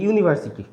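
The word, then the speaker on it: university: যেমন হচ্ছে ইউনিভার্সিটি, ইউনিভার্সিটির এই যে উচ্চারণ, এর উচ্চারণ কিন্তু ইউ, এটার উচ্চারণ হচ্ছে ইউ, তো তাই এর আগে বসবে হচ্ছে এ।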